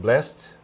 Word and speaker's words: blessed: taught them saying well I prefer to pronounce it blessed instead of blessed I am old school yeah what's version of